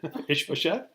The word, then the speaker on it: Ishbosheth: Say that again, Ishbosheth.